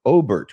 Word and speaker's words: Obert: The O stands for Obert, which was his first name, which is why he uses an initial. It's spelled Obert like Robert without the R.